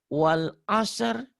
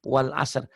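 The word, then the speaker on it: والعصر: Wal asr. Innal insana lafi khusr. Jangan hus. Berapa banyak ustadz katanya ustadz. Bacanya wal as. Innal insana lafi khus. Salah. Wal asr.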